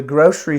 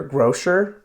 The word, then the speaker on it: grocery: to the grocery store you might hear grow sure but usually grocery store grocery store and it doesn't sound like it's spelled its gr o CER why grocery store it has an SH sound for the C part so it doesn't doesn't